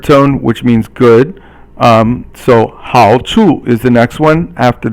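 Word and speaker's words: 好处: So 好处 is the next one after that. 好 is third tone, and 处 is silent or 轻声.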